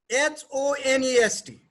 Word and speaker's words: honest: H-O-N-E-S-T. The first letter is H. That is consonant. But it is pronounced with vowel. H is silent.